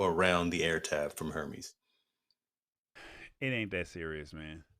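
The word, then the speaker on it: Hermès: the air tab from hermes it ain't that serious man that's high falutin brother it's not that serious um outside and and and apparently the uh that the h is silent see i roll the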